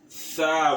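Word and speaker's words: ث: So this letter is also pronounced as TH. TH in English language. The. So you should note it. Tha.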